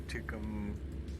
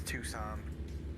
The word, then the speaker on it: Tucson: I butchered that name so badly. We're just heading through Tucum, We always just say Tuku. Macar. Yeah. It's Tucson.